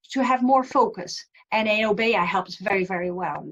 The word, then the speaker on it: obeya: It's actually pronounced as OBEYA, and it means large room.